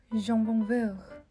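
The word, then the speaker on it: jambon-beurre: 예를 들어서 제과라는 뜻의 파티스리도 파티세리라는 단어로 많이 불리고 있고, 한창 유행했던 잠봉베르 샌드위치도 프랑스어 발음으로 하면 잠봉베르 라고 읽어야 되는데요.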